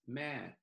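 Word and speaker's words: แม่: The way you say mother is ma.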